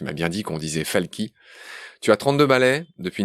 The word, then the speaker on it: Falchi: Tu t'appelles Rémi Falky. Ça s'écrit Falchi, mais tu m'as bien dit qu'on disait Falky.